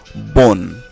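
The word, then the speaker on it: bonne: যেমন বোন, এই বোন শব্দটির শেষে দেখুন কি আছে, আছে, তার আগে দুটি এন রয়েছে। তাহলে আমরা যেটা করব, ও এর কোনো উচ্চারণ হবে না, ঠিক তার আগে যে কনসোনান্ট এন আমি এখানে মার্ক করে দিয়েছি, এই এন পর্যন্ত উচ্চারিত হবে। তাহলে কি হচ্ছে, বোন।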